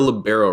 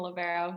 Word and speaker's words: libero: You're a libero, right? Did I say that right? Yes, yeah, you said it right. I'm a libero, so the captain of the backcourt.